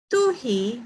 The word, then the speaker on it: tuhi: Tuhi means write. And koreru means speak. These are some examples on how to pronounce in Maori language and their meanings.